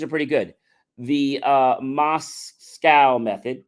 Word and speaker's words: MoSCoW: pretty good the uh MOS scow method pronounced like Russia's capital is a simple prioritization